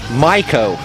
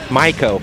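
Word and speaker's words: Maico: Properly pronounced, get this, Miko in German, Miko, but everybody here says Mako.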